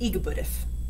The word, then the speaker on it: EGBDF: a talented guy this musical yak's name is igbudif i'll teach you how to say it so